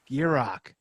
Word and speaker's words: Gierach: last name its burek be rock told you just picture in your mind a gear and rock I got it now